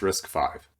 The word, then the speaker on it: RISC-V: just go ahead and look this up pronounced risk five okay so in risk